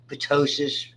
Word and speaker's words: ptosis: Ptosis, typically we pronounce the T, though it should be silent, is that upper droop of an eyelid.